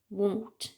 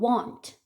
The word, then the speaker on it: won't: 발음을 won't 이렇게 하죠. 이 발음이 좀 힘들어요. 그래서 발음을 이렇게 하시는 분이 많아요. want.